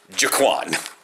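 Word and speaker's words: Gaquan: And like, G, his name is actually G-A-Q-U-A-N, and is actually pronounced Jaquan.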